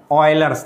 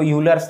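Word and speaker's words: Euler: इसको कहते हैं ऑयलर्स नंबर। अब बहुत से लोग इसको यूलर्स नंबर भी पढ़ते हैं, स्पेलिंग देखो ये है, तुमको यूलर पढ़ना है यूलर पढ़ो, ऑयलर पढ़ना है ऑयलर पढ़ो, कुछ भी पढ़ो स्पेलिंग यही है।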